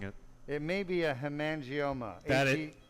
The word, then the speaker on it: hemangioma: Henry has mispronounced it but I believe I'm mispronouncing it it may be a Hemangioma correct h-e-m-a-n-g-i-o-m-a correct so Hemangioma is a like a blood